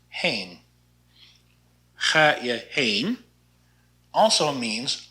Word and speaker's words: heen: Not like the heen. This is just an H, so it's pronounced heen.